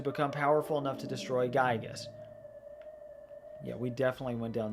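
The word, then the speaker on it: Giygas: journey to defeat the evil entity Gigas or Gigas technically is the official pronunciation.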